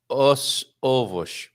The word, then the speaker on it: os ovos: I think that would be os ovos. Well, quicker, right? Os ovos. Os Os ovos. ovos. Oh, If you because say it's os two ovos, vowels. Yes. because you Os ovos.